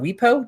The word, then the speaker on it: WIPO: And for that, I am turning to, I think it's pronounced WIPO or WIPO, W-I-P-O, the World Intellectual Property Organization.